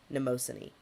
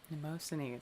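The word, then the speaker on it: Mnemosyne: the god of chest Cod chest congestion it's spelled like memine so m n m o s y n e neosan neosan such a cool name that is a good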